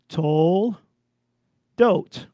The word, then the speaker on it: Toldot: vobs in there because the vav in the word told it is the o sound tol dot says enter twice everybody